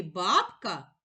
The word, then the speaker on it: бабка: баб ка у слові бабка два склади визначимо наголос покличемо слово бабка наголос падає на перший склад баб наголошений голосний а прийшов